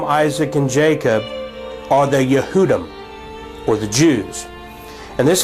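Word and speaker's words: יהודי: And one answer is the fact that the word transliterated in Hebrew for Jew in English is pronounced Yehudi.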